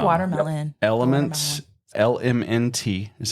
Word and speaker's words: LMNT: you're a hot weather Runner I like watermelon elements lmnt is how it's spelled yeah we to it in the show